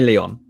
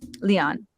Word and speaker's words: Lyon: So, but what is the preferred pronunciation of your pen name? Generally Lyon. Lyon.